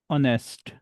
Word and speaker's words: honest: an engineer, an artist, an office an actor So, I'm giving you example of honest. h o n e s t So, we shall add an because h is not pronounced in honor.